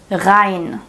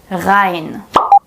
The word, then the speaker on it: Rein: Since the R is placed right before a vowel here, we pronounce it as the real German R.